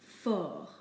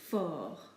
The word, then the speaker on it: fort: And finally, fort. We do not pronounce the T in this case. We just ignore it and pretend that there's an F-O-R, fort.